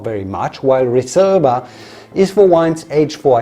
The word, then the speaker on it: Reserva: unlike English or Italian if you want to pronounce it correctly it's got an S sound Reserva and a b sound for the V Reserva in Spain unlike in